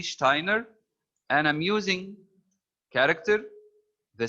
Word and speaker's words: Steiner: Steiner Rudy Steiner uh in German when we have the letter s followed by T or P for pen the S is pronounced sha so this is Rudy Steiner and am using character